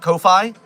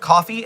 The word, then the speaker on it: Ko-fi: So I call it kofi. Ko fi. Kofi. Uh, a lot of people just call it coffee and I think they are terrible and I hate them on the level of their pronunciation of that word and none other.